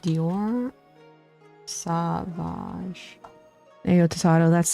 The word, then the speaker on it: Sauvage: Dior Savage. I think it's pronounced Sauvage.